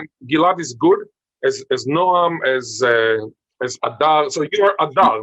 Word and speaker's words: Adar: And Ghil'ad is good as Noam, as Adar.